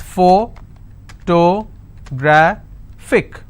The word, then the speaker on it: photographic: It's photographic. And since it's ending with IC, I will stress on gra.